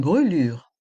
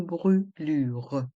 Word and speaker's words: brûlure: sang une fracture une brûlure une fracture une brûure dans le mot brelure le U avec un accent circonflexe est accentué c'est-à-dire qu'on le prononce bien une brûure une fracture une brûlure une fracture une brûlure